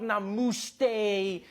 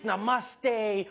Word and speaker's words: namaste: People were coming on like, dude, it's not namuste, it's namaste.